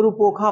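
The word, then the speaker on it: Rupthoka: के ए, हाँ पढ़िए, इसको रूपोखा पढ़ते हैं, ठीक है, रूपोखा, टी साइलेंट होता है, इसमें रूपोखा पढ़ते हैं,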